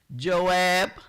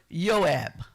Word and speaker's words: Joab: We have another person who is um Joab, but it's not pronounced, you know, I had to check my pronunciation. So, it's Yoab because you know how the J looks like in Wanita.